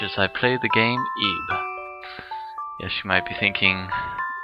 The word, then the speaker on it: Ib: thinking risk that says ib but no actually i went and checked it out and it's actually supposed to be pronounced eve as you would say eve i guess it's because